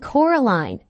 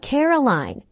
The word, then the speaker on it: Coraline: mice they get things wrong they got your name wrong you know they kept saying Coraline not Caroline not Caroline at all he picked up a